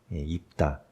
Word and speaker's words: 입다: 이야기할 사사는 다라는 사입니다 입다 옷을 입다 이런 입다 같지만 우리가 이제 그렇게 발음하는 것이고요 다라는이 뜻은 그 히브리어로